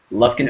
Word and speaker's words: Lufkin: Lufkin, Texas.